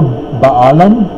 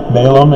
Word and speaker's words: Balaam: Jawbone, remember Baalam? Balaam, as you heard it pronounced.